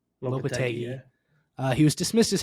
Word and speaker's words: Lopetegui: Lopetegui. Lopetegui, yeah.